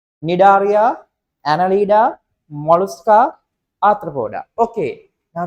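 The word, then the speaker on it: Cnidaria: right then for invertebrates n c is silent nidaria Anala mosa Aroda okay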